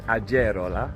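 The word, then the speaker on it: Agerola: pronounce this between us in Spanish the G is like a h sound which of course is not true in Italian but also we were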